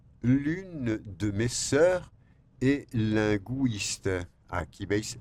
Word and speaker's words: linguiste: L'une de mes sœurs est linguiste. Aquí veis linguiste. Nosotros ponemos la diéresis. En francés, no obstante, no se dice linguiste. No. Linguiste.